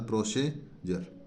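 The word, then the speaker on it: procedure: जाएगा ज हो जाएगा नेक्स्ट देखिए पी आर ओ सीई डी य आरई है ना डी से पूर्व पी आरओ सीई दे रखा है एक से अधिक लेटर है और डी के बाद में यू आरई यू आरई ठीक है तो इस प्रकार प्रोसीजर प्रोसीजर ठीक है जी आर ए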